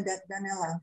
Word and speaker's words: Danella: Benar ya pronunciation ya, Danella, right? Ya, Danella Elaine, ya.